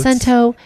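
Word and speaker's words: Cento: Italian way, but it's spelled C E N T O. Show notes in the show notes. Sento, if you are listening.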